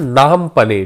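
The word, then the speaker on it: Phnom Penh: की कैपिटल क्या है नाम पने ठीक है यह पीएच यहां पे साइलेंट होता है नाम पने जो है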